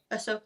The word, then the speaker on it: Ahsoka: Yushku? Ahsoka? Huh? Ahsoka? Ahsoka, that one.